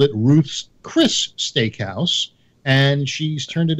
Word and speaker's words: Ruth's Chris: pronounce it right no hardly anybody ever does they go Ruth's Chris's but it's Ruth's Chris now why is it